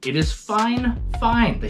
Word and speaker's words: FIFINE: it at it's spelled f fine but they pronounce it fine fine bear with me I asked about the pronunciation and they even sent me a message before I asked about the pronunciation it is fine fine they spelled it out and everything I said